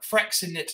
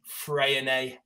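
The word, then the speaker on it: Freixenet: Everyone always asks, oh, can we have that Fresinet or whatever? She goes, do you know how to say it? And I went, well, no. She went, get this. It's Freyonet. Oh.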